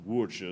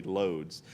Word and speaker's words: Łódź: And again, it's pronounced Łódź or something, but I'm going to say Lodz.